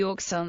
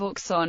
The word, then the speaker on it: Auxonne: the usage in practice however the pronunciation of Oxon is debatable the inhabitants themselves being divided between a pronunciation of K's and SS local elected officials as well as sncf announcements retain the pronunciation K this pronunciation has the